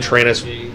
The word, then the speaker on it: Tyrannis: exists Tyrannis TI rty like think about like train us yeah it's like train asaurus rex but it's spelled Tyrannis so just ey are